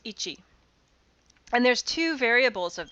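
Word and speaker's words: 壱: So this kanji is pronounced ichi.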